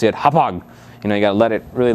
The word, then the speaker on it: Hauppauge: You want to make sure you know how to say it's Hauppauge. Hauppauge. The CEO actually told me.